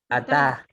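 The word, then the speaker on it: אתה: Dos, dice, si una palabra aparece sin muná, ¿ya? Se puede asumir que se acentúa en la sílaba final. ¿Ya? Por ejemplo, veamos ejemplo. ¿Qué dice ahí? Ataj. Ataj. Tap. Atá. ¿Ya? Atá. Miren, no tiene muná, pero ¿cómo sabemos que se acentúa aquí en la última sílaba?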